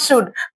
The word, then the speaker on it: should: L silent होता है। इसलिए इसे शुड पढ़ा जाता है।